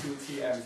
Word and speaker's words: Thu Thiem: of river which is basically uh two it's pronounced like 2 TM if you Mak it a bit easier and